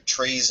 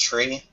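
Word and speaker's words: trie: bit wise tree I I'm pretty sure this is pronounced tree yeah it's probably still pronounced tree and that's probably just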